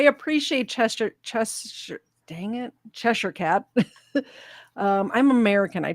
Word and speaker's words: Cheshire: Chester chest dang it chesher cat um I'm American I try to say Cheshire but I actually have British relatives that live in a little town called Bolton and it's chesher not Cheshire um thank you very